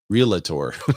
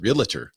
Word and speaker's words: realtor: over on Instagram said maybe if we all start pronouncing it realtor. Yeah. I mean it is a different word, isn't it? We just used the word realator. Realer. Realer. That's what how most people say it.